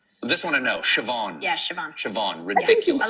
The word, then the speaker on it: Siobhan: Uh, how do you think that's pronounced? This one I know. Siobhan.